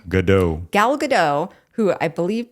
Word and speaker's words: Gadot: Gadot.